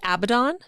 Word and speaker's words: Abaddon: i do want to say i think it's pronounced abaddon oh did i say it wrong you are